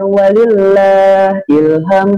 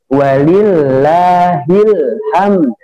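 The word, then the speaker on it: ولله الحمد: wallahu akbar Allahu Akbar Walillah Ilham Ilham banyak orang-orang menyebutnya Walillah Ilham ini Solo akan nanti kalau Adik Adik lagi takbiran bacanya bukan walillahilham tapi walillahilhamd nah dibaca apa walillahilham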